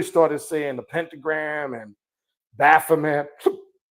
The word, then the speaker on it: Baphomet: It's not Baphomet. I know people pronounce it. It's Baphomet, Baphomet, Baphomet.